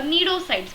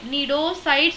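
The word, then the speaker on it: cnidocytes: area is derived from the needle blasts or needle sides which contain the stinging capsules or pneumatocytes see it is actually pronounced as needle needle sides or needle blasts but the spelling is cni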